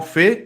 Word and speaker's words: fait: vaisselle, T is silent.